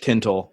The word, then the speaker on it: Tintle: South Jersey we don't we don't ever pronounce the second T so it's like Scranton and Trenton so to say tintal and make sure that second team most people it's Tinnell yeah yeah that's how